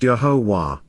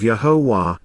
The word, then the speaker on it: Yahowah: and forever comprised of four vowels it is pronounced yahovah his name by his own declaration is based